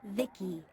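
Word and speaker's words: Vici: By the way, I'm V-I-C-I, pronounced Vicky.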